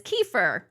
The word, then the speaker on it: kefir: to make homemade, now I'm going to pronounce it as kafir. Liz pronounces it as kefir. I don't know the best way to do it. Tomato, tomato, probably doesn't matter, but I always say kafir.